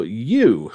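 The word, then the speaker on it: Yuu: Players will follow Yu, which is spelled Y-U-U.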